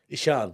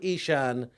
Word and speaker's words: Eshaan: I say Ishan because that's what I've always been called. The actual pronunciation is Ishan.